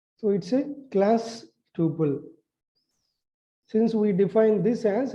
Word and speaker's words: tuple: us create a complex temple tuple it is pronounced as a tuple okay not a double tuple a string and